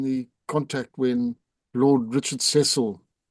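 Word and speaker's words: Cecil: Um, you were you were involved in the in the contact when Lord Richard Ceil or that Sisle is the correct way to pronounce it was killed.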